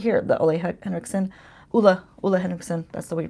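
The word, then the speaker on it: Ole Henriksen: few videos she's using this right here the Olay Hendrickson that's the way you pronounce it I learned things this year I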